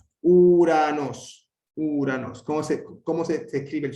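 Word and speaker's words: Οὐρανός: El diptongo U, que se pronuncia como U castellana. Uranos, uranos.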